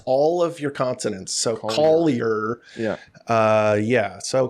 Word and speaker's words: Collier: But in America, you got to pronounce all of your consonants. So, Collier. Yeah. Uh yeah. So, Collier.